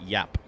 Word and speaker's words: Giap: I was pronouncing it wrong with the hard G for like a year and then I learned that it's actually pronounced like a Y sound.